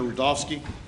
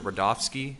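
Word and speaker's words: Rudofski: you special agent rodofsky that's r-u-d-o-f-s-k-i and it's pronounced Rudolph and then ski sure agent rodolski how you doing today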